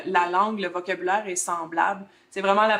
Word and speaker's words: semblable: différent, mais sinon, la langue, le vocabulaire est semblable. C'est vraiment la prononciation où est-ce qu'on reste avec des différences plus marquées un peu.